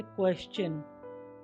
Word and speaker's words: question: यहाँ पर आपने देखा कि S के बाद TION आया तो और T के बाद URE हो तो T का उच्चारण च हो रहा है, जैसे क्वेश्चन, कल्चर, नेचर, पिक्चर।